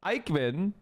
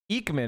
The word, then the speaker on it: Ekman: Ikeman Eekman, excuse me, not Ikeman. Oh, that was a bad pronunciation.